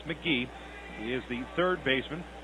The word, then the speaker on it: McGehee: It's Casey McGee, McGehee, but it's pronounced McGee.